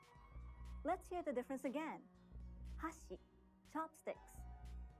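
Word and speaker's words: 箸: hear the difference again hashi chopsticks hashi bridge in japanese each syllable is basically pronounced with a high or low pitch and each japanese bird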